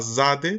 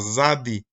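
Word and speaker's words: צדי: Por ejemplo, acá está la letra Zade también, la cual entre los eruditos pues realmente se llama Zadi, con I, no con E, Zadi.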